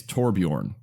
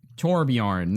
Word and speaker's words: Torbjörn: Ellen by the way I do know this cuz effort and pronounced in the game it's torbjörn torbjörn there you go yeah